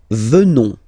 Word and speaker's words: venons: Nous venons. Okay? O-N-S, classical ending for nous. Okay? Final S not pronounced. So O-N, on, venons, venons. Nous venons. Nous venons.